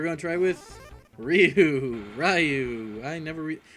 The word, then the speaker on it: Ryu: to try with Ryu rayu I never I've always heard it Ryu except when I was a kid and me and my family pronounced it rayu so I guess it should be Ryu Yes doam except the